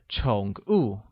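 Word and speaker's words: 宠物: translation of the word pets pets translates as chungu and is pronounced with a falling rising tone on oh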